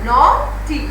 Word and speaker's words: naughty: Now naughty, GH is silent here.